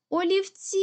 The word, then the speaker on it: олівці: із цих складів наголошений гукаємо слово олівці ми чітко чуємо наголос падає на останні звук і тобто останній склад і є наголошеним тепер робимо звукову модель